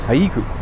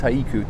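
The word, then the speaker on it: Haʻikū: I know that's how you're supposed to say it, Haiku, but everyone just says Haiku, so it's one of those things. You can get away with incorrect phonetic pronunciation of the town if you want to, but it is Haiku technically.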